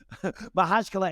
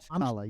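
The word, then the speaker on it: Makhachkala: it's called, and you'll get me on the pronunciation, John. Mahachkala in Dagestan, and said, no, Mahachkala, yes.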